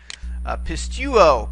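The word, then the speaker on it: πιστεύω: Pistuo, pistuo. This is the word for believe or to trust. We notice here it too has 3 syllables. Pist, okay, tu, and then o.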